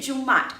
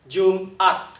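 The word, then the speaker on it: Jum'at: 成 Jumat，不对哦，不是 Jumat，而是 Jumat.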